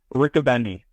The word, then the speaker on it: Richobene: how do you say your last name dude Rick aenny Rick aenny Riley Rick aenny uh so the